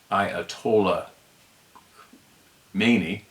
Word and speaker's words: Ayatollah Khomeini: The same month, November 4th, Ayatollah Khomeini, pronounced Ayatollah Khomeini, allowed for 66 hostages to be taken, 52 of them held over a year.